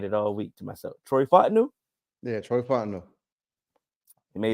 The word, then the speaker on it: Troy Fontenot: Troy Fontenot.